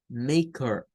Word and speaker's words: maker: está acostumbrado a reconocer, lo tiende a confundir con una E cuando pronunciamos maker, pero es core, es muy suave, es un sonido muy suave. No es como ker, ¿ya? No es como decir ker en español, es ker, maker.